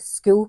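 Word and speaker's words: Skool: Well, we've recently recently we set up the school community uh online. It's It's spelled s k o o l school.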